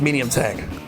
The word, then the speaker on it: MD tank: MD tank is pronounced medium tank.